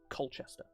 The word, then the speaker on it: Colchester: It's pronounced exactly as it's spelled, Colchester.